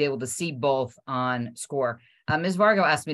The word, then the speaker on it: Scoir: to tell them um score and people have pronounced it as square or we don't even know but it's pronounced score so here's the history of score for you